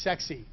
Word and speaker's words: CEXC: This is pronounced sexy.